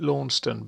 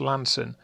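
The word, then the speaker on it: Launceston: over the top of uh well i've always pronounced it lawnston but i've heard recently it's called lan it's pronounced lanson but there we are over to coliford reservoir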